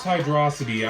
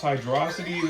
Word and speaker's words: Hydrocity: Yes, it's pronounced Hydrocity, I don't care what anybody says. It's pronounced Hydrocity, that is the correct pronunciation.